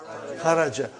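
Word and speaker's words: خَرَجْ: Say it properly. Kharaj. With sukun. You won't say with? You will say kharaj.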